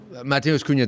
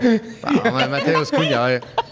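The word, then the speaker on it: Matheus Cunha: Mateus Cunha definitely deserves to be Mateus? picked. Am I saying it wrong? No, yeah, it's good. It's good. You had to double take though. Mateus Cunha.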